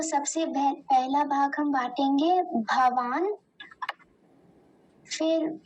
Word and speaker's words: भवान्: उसके नीचे हलंत लगाए, आधा है नकार, तो हम उसे भवान नहीं बोलेंगे। अगर वो पूरा होता तब हम भवान बोलते, लेकिन अभी आधा है तो इसका उच्चारण होगा भवान।